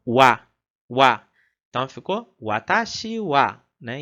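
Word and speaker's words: は: Então nesse caso a gente vai fazer a leitura dela como wa.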